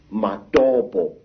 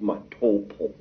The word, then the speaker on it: Matobo: And one of these parts of Africa, sir, is a remarkable place called the mountains of the round rocks, Matobo, wrongly pronounced Matopo in